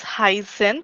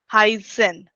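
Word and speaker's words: heißen: So when you are writing this word in between the this particular letter in between any word, that gives that sound as double S. Heisen.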